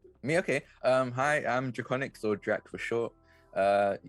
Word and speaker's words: Drakoniques: to the illustrious josh simons and the remarkable draconis did i say that correctly drac uh it's just draconics uh reconyx honestly you're good because i made